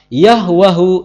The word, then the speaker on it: Yahweh: sani'uha ar-rabbu musawwiruha liyusabbitaha yahwahu ismuhu. Nama Yahweh dalam bahasa Arab diucapkan Yahwa. Kenapa? Karena dalam bahasa Arab tidak ditemukan vokal E.